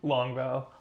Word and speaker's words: Longval: Longval.